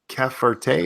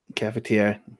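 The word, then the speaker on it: cafetière: Caferte, is that how you say it? Krona. Caferte goes on stove with water in the bottom. Cafetiere.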